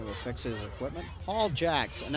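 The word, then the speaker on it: Jacques: fix his equipment paul jacks and i hope i'm saying that right it's spelled j-a-c-q-u-e-s if i was in canada and should be shocked i believe third down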